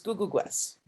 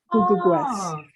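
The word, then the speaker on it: Ku'ku'kwes: And you pronounce it basically, you know, the way you pronounce my last name, Googoo, and you put Gwes at the end, so it's Googoo Gwes. Googoo Gwes.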